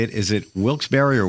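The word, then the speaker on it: Wilkes-Barre: Is it Wilsberry or Wilks Bar? Pennsylvania. No, it's Wilsbury is how they pronounce it. Say it again. Wilsberry.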